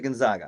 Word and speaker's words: Gonzaga: Is it Gonzaga or is it Gonzaga?